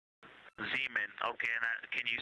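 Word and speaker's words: Zeman: Zemen. Okay. And can you say the first letter? I may be pronouncing that wrong.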